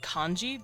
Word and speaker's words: kanji: Yes, China and Japan actually use the same writing system called Hanzi, although the Japanese pronounce it kanji because Chinese and Japan are different languages, so they pronounce things a little differently.